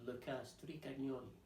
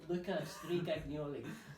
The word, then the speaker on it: Luca Stricagnoli: by the name of Luca Stricagnoli, he's Italian, so you have to say it like that, but he does the same, Luca Stricagnoli.